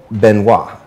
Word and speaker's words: Benoit: So today, we have with us an amazing guest, Thomas Benoit, because this T is silent, right?